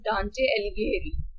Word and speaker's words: Dante: his pronunciation is quite uh tricky it is pronounced as dante so it is basically committee uh written by